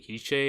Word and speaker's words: Hischier: I feel like with Hischier, I'm pretty sure it's pronounced Hischier. Sure.